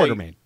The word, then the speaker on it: Quatermain: Quatermain. Quatermain? Yeah. Even though there's no R, Correct. it's Quater. Yep. Main.